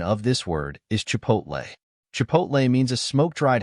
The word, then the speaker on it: chipotle: h i p o t l the correct pronunciation of this word is Chipotle Chipotle means a smoked dried jalapeno chili used